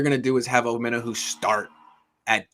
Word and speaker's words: Omenihu: Apparently, he likes his name to be pronounced Omenihu, or so I've heard.